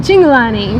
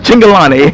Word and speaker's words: Cingolani: Cingolani. Oh, okay. I'm bad with pronunciations. Cingolani.